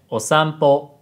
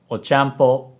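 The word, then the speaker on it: おさんぽ: Instead of saying Osampo, she said Ochampo.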